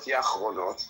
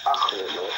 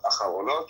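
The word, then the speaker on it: אחרונות: So, first of all, Rabbi, it's Yediot Achronot. It means latest news. Please let me speak. It's not Yachronot, okay? It's Achronot with an Aleph at the beginning.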